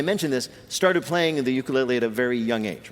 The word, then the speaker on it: ukulele: We were talking before the correct Hawaiian pronunciation of the instrument of which you are a master is ukulele.